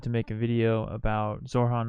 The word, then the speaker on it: Zohran: Zohran Kwame Mamdani. Zohran.